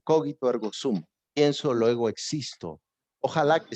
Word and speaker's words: cogito ergo sum: debe llevar a cabo una palabra en latín que se pronuncia cogito ergo stump cogito ergo sum pienso luego existo ojalá